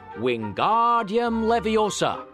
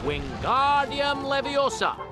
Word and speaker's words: Wingardium Leviosa: away with your hand Wingardium Leviosa the magic words for the levitation charm are Wingardium Leviosa be sure to make the are nice and long say the incantation aloud